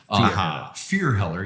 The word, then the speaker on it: Fierheller: You know, my name's Fierheller. Fierheller, yeah.